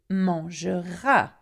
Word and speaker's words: mangera: Now, tu mangeras. You will eat. Il mangera. Okay? Though it has no S, it's still pronounced the same way as tu.